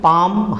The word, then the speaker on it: palm: PALM, पाम, हथेली, इसमें भी एल साइलेंट है, खामोश है।